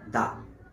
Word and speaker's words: the: আর সেই ওয়ার্ডের প্রথম অক্ষরটা যদি কনসোনেন্ট হয়, তাহলে তার উচ্চারণ হয় দা। যেমন ধরো, দি অরেঞ্জ, দি আমব্রেলা। ঠিক তেমনি দ্য হ্যান্ড, দ্য পেন। কারণ কি? অরেঞ্জ এবং আমব্রেলার শুরুতে ভাওয়েল, তাই তখন টিএইচই এর উচ্চারণ হবে দি।